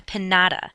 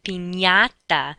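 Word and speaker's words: piñata: party is not a pinata that's not what the candy falls out from it is a pinata that ny sound sort of like how we pronounce lasagna and y okay the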